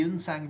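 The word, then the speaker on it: Xuanzang: या जुआज़ंग को आप पहले यनसंग भी बोलते थे हम लोग। ठीक है? कई दफा इनकी जो स्पेलिंग है वो यनसंग भी रही है।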